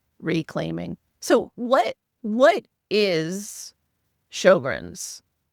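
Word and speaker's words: Sjögren's: It uh it's got an S and then a J after the S, which sounds very strange when you pronounce it Shoggrrens. So, Shogrins is a condition that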